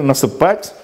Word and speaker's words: насыпать: При помощи ударения. Насыпать, насыпать. Насыпать. Вот, насыпать совершенного вида. Насыпать несовершенного вида. Так, ударение тоже выражает грамматическое значение.